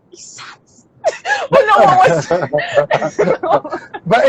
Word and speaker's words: Isat: My name is pronounced Isat. So it's spelled Isat, but for English people, you pronounce it Esat. I don't know if that makes sense. So Isat or is I don't know, like Isa. It's Isa, just Isa.